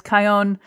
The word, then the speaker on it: Kion: So sometimes when I meet people, I'll say, my name is Kion. It rhymes with my own.